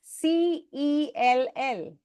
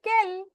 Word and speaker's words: cell: you pronounce C-E-L-L? Cell. Why? Call it Kel.